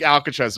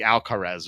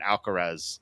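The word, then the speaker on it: Alcaraz: Uh, um, that's It looks like Alcatres, but it's like Alcarez or something.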